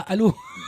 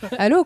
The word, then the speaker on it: ALO: Mais non, Halo, tu ça se prononces pas Halo. Si, comment veux-tu que je le prononce Hello, ça fait Halo. Voilà. Oui, mais non, mais ça se dit pas ça. Ah. Halo. Allô, quoi.